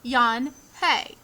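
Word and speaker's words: Unhei: no yan hey corrected it's spelled u n h e i it's pronounced yan hey uh oh yan hi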